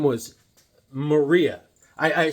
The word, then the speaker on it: Maria: saleswoman her name was Maria I I said I said hey Mary um my name is Maria so then I then the next time I go hey Marie my name is Maria I said oh oh